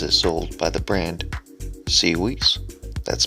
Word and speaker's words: SIUES: Before starting the video, I'd like to say thanks to SIUES for sending me the free product to test.